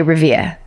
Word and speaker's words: Revere: I'm giving it the Revere accent because it's Revere. Ah. But they say Revia.